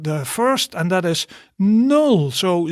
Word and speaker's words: nul: So remember the pronunciation from an English speaker's perspective. So nul, that is the first one.